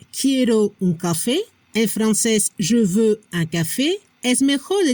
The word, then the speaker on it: je veux: La pronunciación je veux. No se pronuncia la X al final.